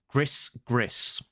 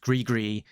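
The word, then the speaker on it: gris-gris: about uh I'll say this as it's written Gris Gris so Gris GIS pronounced grigri is Cajun which means to curse someone frequently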